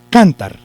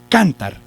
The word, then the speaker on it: cantar: jugando con los acentos vamos a suponer que lleva el acento en la sílaba can entonces yo voy a cantar yo quiero cantar si se dice así no es cierto cantar no se puede porque esa